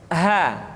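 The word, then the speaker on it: ح: Perhatikan, huruf ha seringkali diucapkan dari dada. Ha. Ingat, di dalam makharijul huruf kita tidak mengenal pengucapan huruf-huruf dada. Tidak ha, tetapi ha. Tidak ihdina, akan tetapi ihdina.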